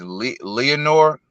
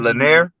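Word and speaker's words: Lenier: of the Cuban guys I think this guy's name is Leonor I don't know I pronounce his name but he's a PVC fighter Leonor he's a super uh Cuban Prospect Olympian oh yeah is it Lanier Lanier I think it's Lanier yes it's Lanier oh man he's an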